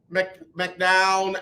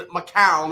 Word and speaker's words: McCown: assumed that it was josh mcdown and mccown i'm sorry i gotta quit saying his name wrong because uh people don't